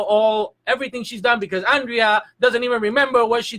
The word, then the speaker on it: Andrea: that's it you know yeah it's not pronounced Andrea apathy people call you some people do and it whatever they feel comfortable ha they want to pronounce it but it is Andrea that's the proper pronunciation a proper so more